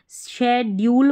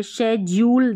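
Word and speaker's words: schedule: यह देखिए यहां पर डी यू साथ में है लेकिन इसको शड्यूल पढ़ रहे हैं। शज्यूल ज नहीं पढ़ रहे हैं।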